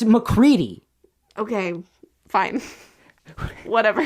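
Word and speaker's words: MacReady: It's McCready.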